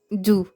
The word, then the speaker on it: doux: Exemple : doux, douce, jaloux jalouse rou rousse. Attention, le X ne se prononce pas.